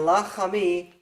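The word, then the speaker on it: לַחֲמִי: Now in English, you'll think of it as having 3 syllables instead of 2. But in Hebrew, lachmi is 2 syllables And lachami, that word is also 2 syllables. So it's easier to just say, this word has 2 parts, lachmi. This one has 3 parts, lachami.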